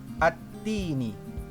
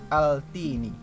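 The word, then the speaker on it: التين: Contoh alif lam syamsiah dalam surah At-Tin banyak sekali, salah satunya At-Tini. Kita tidak membacanya dengan Al-Tini.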